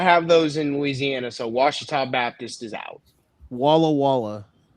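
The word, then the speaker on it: Ouachita: I swear to God, if the O and U is silent, it's just Uchita, I'm gonna fucking fight you.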